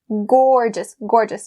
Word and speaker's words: gorgeous: And it's really important to not be lazy with the or sound here. Gorgeous.